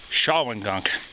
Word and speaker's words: Shawangunk: apparently I made an error in pronunciation it's pronounced shaan Gunk if I botch that I quit anyway down the shawing gong rid Trail we go how dope is this